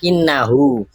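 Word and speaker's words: إِنَّهُ: Kalau kalau ada wunya dibacanya innahu. Kalau enggak ada wunya inna. Kalau kalau h-nya itu sukun inna. Kalau ada kasrahnya innaha. Kalau ada wunya innahu.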